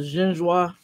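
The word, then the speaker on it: génoise: That's with the, I know, with the genoise. How do we pronounce it?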